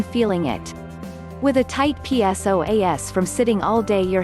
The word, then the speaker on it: psoas: One of the most significant things about the psoas, pronounced psoas, or hip flexors muscle is that it connects the legs to the spine.